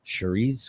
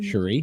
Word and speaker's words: Cherie: I was like ah Sheree's gonna be with us did I pronounce it right this time Cherie yes you did that's perfect thank you curry curry and I